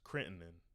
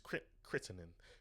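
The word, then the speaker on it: Crittenton: Um I think I always say that name wrong. I think it's technically Javar Kittinin. I say those TE's a little little I get I get I really get into the T's.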